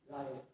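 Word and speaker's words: Reil: See, Ryle लिखा हुआ है, लेकिन जो उनके कंट्री में प्रोनाउंसिएशन था Ryle.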